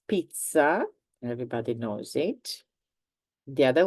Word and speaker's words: pizza: And in fact, in general, let's say that there are more words with the sound ts. So one is pizza, everybody knows it.